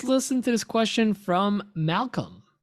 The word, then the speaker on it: Malcolm: I mean, listen, we all talk about this all the time, but let's listen to this question from Malcolm with a silent L.